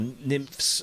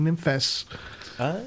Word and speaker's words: Nymphes: Is it just NYMPHES or Nymphs? Nymphs. Or Nymphs? No. Yeah. No, they're a Greek company, NYMPHES. So it's two syllables.